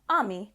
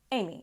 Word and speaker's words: Ami: The only difference was the pronunciation. So, she went from Ami to Amy in English.